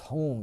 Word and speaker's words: hung: It's pronounced Hung, H-O-O-N-G, but it's spelled H-U-N-G.